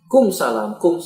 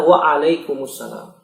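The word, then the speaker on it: وعليكم السلام: Kumsalam apa artinya? Kumsalam. Jawab dengan benar waalaikumsalam.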